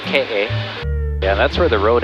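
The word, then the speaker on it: Keʻe: this one it's called k-a it's spelled k-e-e but it's pronounced k-a and that's where the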